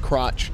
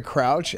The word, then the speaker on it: crouch: I used to pronounce crouch crotch.